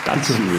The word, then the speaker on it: 까치울: 외국인한테 발음하기 가장 어려운 지하철역 중 하나. 까치울. 쌍기역이 어렵죠. 네, 기억하고. 그리고 울도 쉽지 않죠.